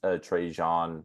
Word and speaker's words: Trajan: to GM to replace Trajan Langdon. How do you pronounce it? I said Trajan. I think it's actually like Trajan.